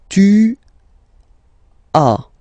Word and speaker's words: as: Okay, second one, tu as. Okay, as usual in French, final s is not pronounced.